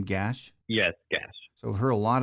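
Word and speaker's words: Gach: Avery, do you pronounce his name Gash? Yes, Gash.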